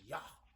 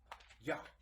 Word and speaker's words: Yah: Another name is Yah. Yah. And you gotta, I know a brother calling himself Yah Bay, and I told him that means, God,